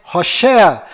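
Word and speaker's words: הושע: Mas a pronúncia correta de Oséias é Hoshea.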